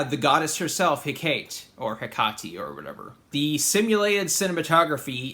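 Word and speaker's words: Hecate: goddess uh I guess her name is pronounced heati I always thought it was heate or heate but Wikipedia is telling me that it's hiati I'm going to go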